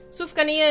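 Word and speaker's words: sufganiyah: Sufgania is how it's said.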